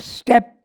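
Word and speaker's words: steppe: sun steps in the pathless infinite the word step is pronounced step and it is vast plains treeless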